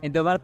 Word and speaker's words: Indomaret: Jadi waktu aku di situ harus pergi ke Indomaret atau Alfamart untuk Oke. mengisikan. Indomaret tahu juga tuh. Tapi itu bukan Indomaret aja saja kan? Indomaret iya. Tapi kayak pronunciasinya cuman gitu kan? Indomaret.